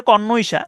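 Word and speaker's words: connoisseur: সেউর অথবা সেয়ার যে উচ্চারণ করতে পারেন কনসা উচ্চারণ কনসা কিন্তু বানটা হচ্ছে খুবই একটু অদ্ভুত সিও এন কন এনও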